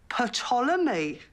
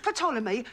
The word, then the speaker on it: Ptolemy: It's called Ptolemy. I don't think so. Says it right there. It's as plain as the lines on your face. The P is silent, as in psychopath, Sharon.